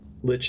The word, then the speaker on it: lich: have to wait till she gets up gotcha lich is the correct pronunciation okay yet to peel the flesh from